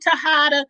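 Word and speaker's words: Tejada: right is it tahana i know jay's is pronounced you know in spanish or mexican you know um as uh ha ha i think he's able to hide but anyway that's their last name tahana but anyway tariq you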